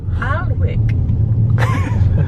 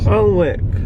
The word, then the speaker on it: Alnwick: None of us know how to pronounce this castle. Alnwick. Yay! 6346. Alnwick.